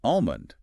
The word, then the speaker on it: almond: see written there because the L is silent. The L is completely silent. The correct pronunciation is almond.